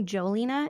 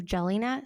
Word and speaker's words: Jelena: pronounces my name right people call me Joe Lina instead of Jelena so my nickname became